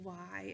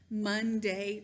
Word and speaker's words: Maundy: The word is Maundy. I'm Southern. I have a Southern accent, so sometimes it comes out in different ways. But it's spelled, just so you know, Maundy. It's not Monday, Thursday. That doesn't make any sense, really, does it?